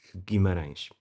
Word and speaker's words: Guimarães: I I think think it's the best time I've heard someone not from Portugal pronouncing Guimarães.